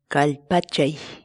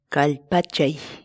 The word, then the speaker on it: Kallpachay: série de vídeos onde nós ensinamos você a pronunciar determinadas palavras em Quechua. Portanto, a nossa palavra do dia para hoje é Kalpachay, kalpachay, kalpachay.